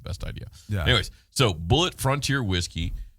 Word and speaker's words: Bulleit: So it's they say it's a family tradition, and it's spelled different. Bulleit, like the name. It only has a not like has the an actual I in it.